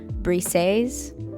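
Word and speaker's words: Briseis: He said that it was pronounced Brises.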